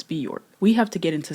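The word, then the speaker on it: Björk: How do you say uh Bajork? I keep saying Bajor, but I feel like that's not right. Okay. So, it's it's Bork.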